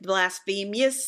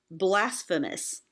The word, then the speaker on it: blasphemous: So you would normally in English say blasphemous, but the way the song's written, you have to sing it blasphemous. Awful.